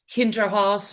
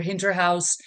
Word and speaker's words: Hinterhaus: So we arrived at the name Hindrah House or Hindra House uh how most people say it and uh it kind